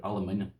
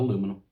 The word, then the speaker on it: aluminium: But this is the real name for this here is aluminium, not aluminum, aluminium.